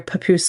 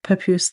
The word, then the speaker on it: Papoose: facility called S4 near Papoose Lake, which I don't know where Papoose Lake is. Maybe someone out there does. I just think the name's kind of funny cuz it rhymes with caboose, you know?